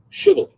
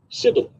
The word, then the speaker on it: Shibboleth: If the man said, no, I'm not, they would tell him to say, Shibboleth. If he was from Ephraim, he would say, Sibboleth, because people from Ephraim cannot pronounce the word correctly.